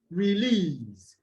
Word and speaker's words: release: I said earlier that has two syllables will take the stress on the second syllable, as in release.